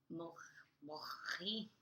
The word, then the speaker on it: Mulcahy: Russell Mulcahy.